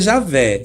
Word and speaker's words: Javé: Mas a pronúncia mais certa é Javé, só que eles não usam.